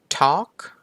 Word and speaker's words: talk: กว่า have ต่อ มา Talk Talk ก็ ไม่ ใช้ ตัว L เนาะ ไม่ มี เสียง ถัด ไป Walk Walk